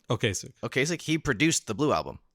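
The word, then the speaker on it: Ocasek: how do you say his last name okas okasik he produced The Blue Album yes and I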